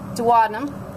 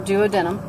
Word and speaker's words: duodenum: okay Safa gets again pancreas duodenum or duodenum your choice on pronunciation that's about it